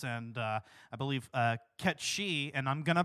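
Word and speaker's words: Cait Sith: in of course and uh I believe uh cat she and I'm going to pronounce it that way because I refuse to accept Kate Sith and I know that that's the canonical pronunciation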